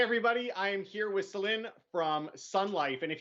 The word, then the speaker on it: Celine: celine all the time as well but definitely celine is the pronunciation so thanks for confirming that no problem